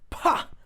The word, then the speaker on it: 怕: pa, and then we'll say, sorry, this is pronounced pa.